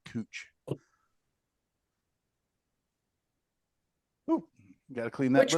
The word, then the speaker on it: Couch: it versus couching it, we have a street in downtown Portland called Cooch Street, which is just literally spelled Couch Street, but everybody knows to call it Cooch.